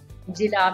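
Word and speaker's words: جلا: इसी इल्म की बदौलत इंसान के दिलो दिमाग की बेहतरीन सलाहियतों को जिला मिली। ये लफ्ज जिला है, जीम के नीचे जेर है, लिहाजा आप इसको जिला प्रोनाउंसिएशन इसकी होगी, इसका तलफ़ुज़ है जिला।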